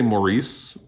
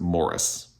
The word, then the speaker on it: Maurice: I always say Maurice by e.m. Forster but I think if you're in the u.k. You pronounce it Morris.